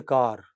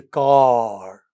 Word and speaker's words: car: Then some of its vowels are very long almost twice as long as vowels as some sounds in many Indian languages. They do not say car you know I come to office daily in a car. No that's not English. English is I come to office daily in a car. Okay, they open their jaws wide.